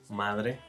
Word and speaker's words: madre: This fricative sound is also a present when there's a consonant cluster. So the verb to open is pronounced abrir, mother, madre. And the verb agradar, how does that sound? Agrada. Exactly. Again, with fricative sounds.